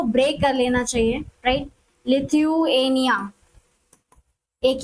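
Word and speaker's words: Lithuania: लिथ्व थुएनिया okay तो जभी भी कभी भी प्रोनाउंसिएशन में दिक्कत हो तो उसको ब्रेक कर लेना चाहिए राइट लिथनिया एक ये हो गया और दूसरा हो गया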